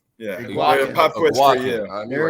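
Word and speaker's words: Eguakun: That's because you can't pronounce his last name. Egukan. I got Nope. it. No. Damn. How do you say Damn, I was Iguacan. confident too, Josh. Iguacan. Yeah. Iguacan.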